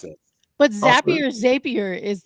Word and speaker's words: Zapier: it is it not zappier but what's is it zappier like happier isn't what you always say Beth yeah I'm with you like how am I supposed to pronounce it but zappier zapier is like I mean